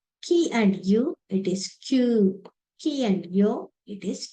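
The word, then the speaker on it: きゅ: Ki and you, it is Q.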